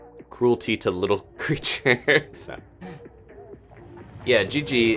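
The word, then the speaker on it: Jiji: to little creatures yeah Gigi is uh the name it's spelled j-i-j-i this guy was asking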